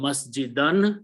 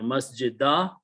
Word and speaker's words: masjid: The final word becomes masjidan. When you stop, you pronounce masjid or masjidah.